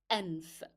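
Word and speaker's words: أنف: So apostrophe is signifying hamza, then a is signifying fatha that appears above hamza, then noon for n, for f, anf.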